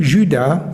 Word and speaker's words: Judas: On le prononce comme ça Judas d'Iscariote.